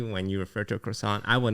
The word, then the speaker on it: croissant: sounds like what it you don't call it a quasant, you call it a croissant. I say quasant.